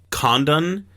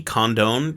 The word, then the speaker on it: Condon: was filed by the condon committee condone committee i don't know how to pronounce that is it like condom both n yeah and it's named after